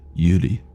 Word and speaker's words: Yuri: So like Hisoka, not Hisoka or Yuri. It'd be like Yuri. It's like an L with the R.